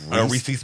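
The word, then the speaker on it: rhesus: I think you said Reese's like Reese's peanut butter cup.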